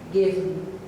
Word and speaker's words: given: this, the heaven and given. It's possible to pronounce these as 2-syllabled words, but I believe that here they are intended to be read as a single syllable. Heaven, given.